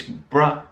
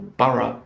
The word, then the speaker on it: borough: And the suffix borough, or borough, it can be pronounced, is very common in place names in England.